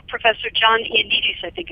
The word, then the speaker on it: Ioannidis: When in fact, medical experts, like Professor John Ioannidis, I think it's pronounced, at Stanford, Yes.